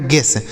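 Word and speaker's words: guess: इसे पढ़ा जाता है जी यू से हो गया दोस्तों ग। ई का उच्चारण ए हो गया। डबल एस से हो गया स इसे पढ़ा जाएगा गेस जी यू E double S गेस गेस का मतलब होता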